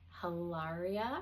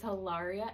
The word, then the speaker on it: Hilaria: Next, we had Haria. I think I'm saying it right finally. I don't think I've said it right previously, but it's Hilaria and Glev.